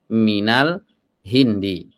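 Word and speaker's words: مِنَ الْهِنْدِ: ya asalnya Al Hindu asalnya Al Hindu di dhomah Kenapa di sini Al Hindi karena ada min min sebelumnya kita Jelaskan ya dia adalah huruf Jar ya Sehingga dibacanya Minal Hindi dari India Oke perhatikan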